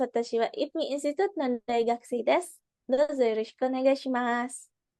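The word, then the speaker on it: 大学生: Oh ya, sedikit ini untuk pengucapan di Daigakusei itu punya agak ngilang ya, agak mendelep sedikit. Daigakusei. Jadi kayak kalau misalnya bingung nggak usah disebutin aja, jadi kayak Daigakusei. Kedengarannya kayak gitu, karena ini Daigakusei-nya nggak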